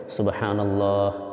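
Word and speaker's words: سبحان الله: হাটা বাদ পড়ে যাচ্ছে এজন্য ছাড়তে হবে হা উচ্চারণ করতে সুবহানাল্লাহ।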